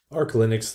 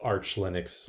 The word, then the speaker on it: Arch Linux: Arch Linux, though, or Arch Linux, I know that's the right way to say it.